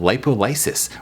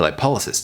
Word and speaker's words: lipolysis: With the niacin and the sauna, you're creating a process, or you're instigating a process called lipolysis, or lipolysis, depending on who's pronouncing it.